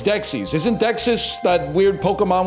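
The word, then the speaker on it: Dexys Midnight Runners: Discover this like a very By the way, it is not Dexus. It's Dexis.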